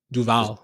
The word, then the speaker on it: Duval: How was it supposed to be pronounced? Duval. Just Duval.